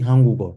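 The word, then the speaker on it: 한국어: But pronounced properly, Hangugo, Swahilio, Chungugo, Yongo. Okay. Inasoma pamoja. This G moves to where the silent is, becomes Hangugo.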